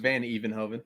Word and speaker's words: Van Hevenhoven: Is that a real last name, Van Hevenhoven? Yeah. Did I pronounce it correct? Yeah, pretty close. Well, how would you pronounce it? Van Evenhoven. Van Even. There's more E in it.